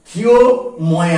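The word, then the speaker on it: ক্ষমা: খু ধা ঠিক তার মানে আরেকটা বানান লিখেছি খি ময় আকার এর উচ্চারণটা কি করবো খি এর উচ্চারণ কি হবে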